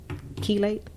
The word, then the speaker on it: chelate: in the community that families can access to chelate? Am I saying that correctly? How do you spell that?